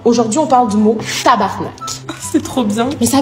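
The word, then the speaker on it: tabarnak: respecter le mot hein c'est pas tabernacle c'est tabarnac tabernac tabernac non tabarnac ah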